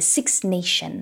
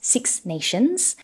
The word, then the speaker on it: Six Nations: him talk about the six nation of course this is a plural we should make sure that we pronounce that s six nations and he talked also